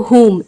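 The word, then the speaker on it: whom: या शक करना, तो होम, इसे वोम नहीं पढ़ना, होम पढ़ना, HOOM, होम प्रोनाउंस करेंगे।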